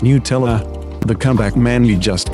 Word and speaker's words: Nutella: european judging americans for pronouncing nutella new tellers of it were made from ducking hazelnuts shortly followed by a screenshot from nutella s frequently asked questions declaring it as pronounced nutella the comeback man you